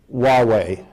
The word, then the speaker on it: Huawei: One of the questions that I deal with NATO and with the US government is the issue of Chinese equipment, Huawei, spelled Huawei, rhymes with Amway.